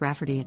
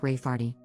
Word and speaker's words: Rayfarty: to name my niece Rayfarty, pronounced Rafferty, not at all like Rayfarty.